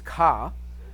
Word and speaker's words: CAH: C-A-H is ka.